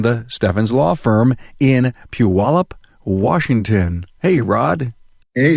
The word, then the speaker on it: Puyallup: rod Stefan's from the Stefan's law firm in Puyallup Washington hey rod hey how are you doing